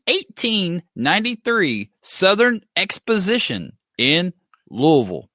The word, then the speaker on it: Louisville: invention at the 1893 Southern Expos decision in Louisville it's pronounced day budded and it's Louisville question number